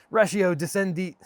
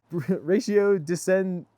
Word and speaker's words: ratio decidendi: Sprinkling your law school essay with Latin legal terminologies like non est factum, contra preferentum, ratio discendi... can't even pronounce that. Ratio decidendi.